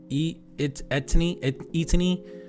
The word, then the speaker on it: ETINI: ETINI, I believe is how you pronounce the channel name.